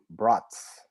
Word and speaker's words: Braatz: I have none other than Adam Braatz. Is that right, Adam? Yeah, you got it right. Well Awesome. done. Pronounced just like the food.